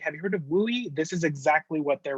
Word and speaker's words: WUE: right in so what is we right it's pronounced louis and if your counselor if you hear a counselor say have you heard of wooi this is exactly what they're referring to um